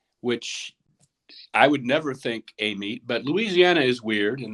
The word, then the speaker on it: Amite: How do we pronounce it? Apparently, they call it Amite, which, it's Amite, which I would never think Amite, but Louisiana is weird in that way.